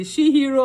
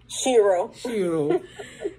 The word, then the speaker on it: Shiro: How would you pronounce it? Shihiro or Shiro? Shiro.